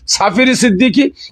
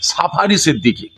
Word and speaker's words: সাফি সিদ্দিকী: করছে কি টেলিফোন সিদ্দিকী আমার নাম সাফি সিদ্দিকী কিন্তু ইংলিশে উচ্চারণ করছে সাফারী সিদ্দিকী আজকে আমাদের বাড়ি এইরকম